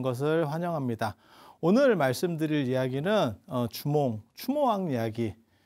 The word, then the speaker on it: 추모: 오늘 말씀드릴 이야기는 추모왕 이야기. 주몽이라고도 하고 추모, 그냥 원 발음이 아마 추모 쪽이 좀 더 가까웠을 걸로 추정을 합니다.